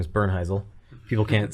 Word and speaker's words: Bernheisel: like hey you know my last name is Bern hazel people can't say it or spell it so I sure yeah and I was